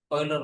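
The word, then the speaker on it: Euler: कोइलर line हां बच्चे इसको यूर बोलते हैं। ऐसे मत बोला करो। कोइलर लाइन प्रोनाउंसिएशन की होती है।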